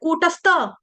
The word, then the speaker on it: कूटस्थ: Clear हो गया कूटस्थ यहां पे थ है थर्मस वाला थ है थर्मस वाला इसको गलती से तबूज वाला गाया जाता है। कूटस्थ त नहीं है थ कूटस्थ कूटस्थ कूटस्थ मचलन